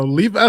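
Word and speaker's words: Levi's: Now, Levi Stadium, I said it right this time.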